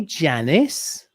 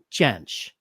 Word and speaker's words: Jansch: passed away though until did you say janice janich how do you say it i gotta watch who jamsh okay everybody listening let's try it all together now bert chance bert yes i'm sorry